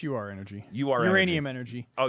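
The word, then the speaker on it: Ur-Energy: are energy i mean it's just pronounced oh it's not er energy yeah it's you are energy you are uranium energy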